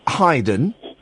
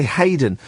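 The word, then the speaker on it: Haydn: little bit of um heyden I think that's how it's pronounced is that and you're surprised I I pronounced it um correctly aren't you whistle me one cuz most people say Hayden well I've got um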